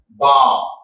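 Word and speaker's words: balm: Now, B-A-L-M, again, L is silent. L is silent. So how should say that? Bam, bam, arm.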